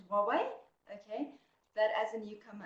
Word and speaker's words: Huawei: Some people say Huawei, but apparently the right pronunciation is Huawei.